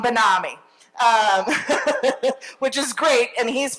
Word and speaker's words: BenAmi: And he wrote back, it's E-L-A-W-N, like, salami. So, but BenAmi instead of salami, which gets me to say it, BenAmi.